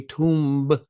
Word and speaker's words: tomb: That's why you don't say tomb.